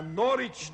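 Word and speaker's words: Norwich: am sending you a norch terer rhymes with porridge but it's spelled n o r w i c h usually these dogs are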